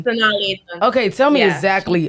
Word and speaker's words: Sanaa Lathan: I do not want to say her name wrong. Tell me her name, Sanai Lathan. Sanaa Lathan.